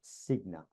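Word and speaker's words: Cigna: 2018 stat and it was on behalf of Signa I that's how you pronounce it and the stat was over half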